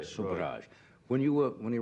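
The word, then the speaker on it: Sobhraj: And when you write about this guy, is his name pronounced so Charles Subraj? Subra. S OJ. S O B H R A J. Subraj.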